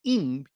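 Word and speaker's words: עִם: It is pronounced im. It is pronounced im. It's spelled I-M in English, but pronounced im.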